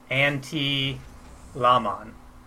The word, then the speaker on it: Antylamon: And Antylamon is watching and has sent me a private message and is telling me I'm pronouncing it wrong. It's Antylamon.